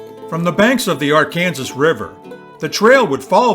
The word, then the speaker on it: Arkansas: the Arkansas River I make a point of pronouncing it the Arkansas River because this is how it is pronounced by kin Zients then and today from the banks of the Arkansas River the trail would follow the river for